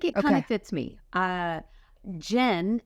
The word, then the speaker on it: Jen: Jen, as you know, is misunderstood often for Jan, Jean. Yes. I get a lot of Jean in there. I got a lot of Jan, and I'm like, am I saying my name wrong? Yeah. They're like, I'm Jen. They're like, Jan?